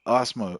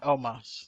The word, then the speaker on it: Omos: We got Braun Strowman versus Osmo. Oh, how do you say his name? Omos.